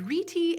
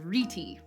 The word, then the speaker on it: rete: Incidentally, I saw this pronounced as rete and reet, so for this episode, we're gonna go with rete.